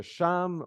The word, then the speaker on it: Cham: voir la malédiction de Cham ou aussi kam on peut le prononcé C puisque le déluge a